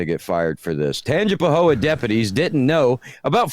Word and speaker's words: Tangipahoa: No, because I don't want you to mispronounce the name of the town. Yeah, I want you to get it right. Tangipahoa? Close. Tangipahoa deputies didn't know.